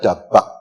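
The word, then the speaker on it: דבק: Melekat kuat bersatu dalam bahasa Ibrani, dalam bahasa aslinya ditulis 3 huruf di sana, bacanya dari kanan, Dalet, Bet, dan Kaf. Dalet, Bet, dan Kaf dibaca dabak.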